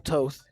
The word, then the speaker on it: Toth: It'll be quickly 0-1 to Diesel Toth. I believe that is the correct way to say it. Long O, Diesel Toth.